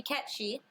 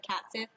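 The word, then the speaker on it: Cait Sith: if is gonna be catchy in case you didn't know cats it is pronounced catchy it's Irish it's Irish and Scottish and it's pronounced catchy until 2021 yeah yeah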